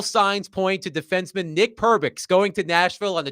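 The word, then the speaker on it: Perbix: And it rhymes Pervix loosely rhymes with a part of the female anatomy.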